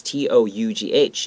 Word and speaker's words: tough: be tough and this t-o-u-g-h even though it's a gh it's pronounced like an f tough okay so be